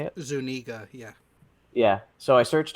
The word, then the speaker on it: Zuniga: Zuniga, yeah.